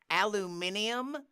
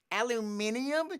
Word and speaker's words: aluminium: that gets me is aluminium aluminium you've added a whole a whole extra syllable to it or you lost it at some point yeah that's you got